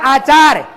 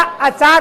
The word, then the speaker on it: अचार: कई बार उच्चारण करने में गलत लोग बोलते हैं आचार। ले लो आचार। ये अशुद्ध है। आचार नहीं है। वो है बेटा। अचार होता है। अचार।